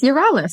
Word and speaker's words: Yerales: Now, pronunciate pronunciation on your last name, is it Yuralis? It's Yuralis.